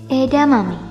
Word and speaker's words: edamame: Edamame. Ini juga salah satu jenis makanan yang tentunya kerap kamu jumpai. Edamame ini benarnya disebut edamame. Jangan lupa pakai H.